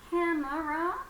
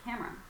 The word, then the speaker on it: camera: right let's click so we've got three vowel sounds but actually the middle one we drop so can you figure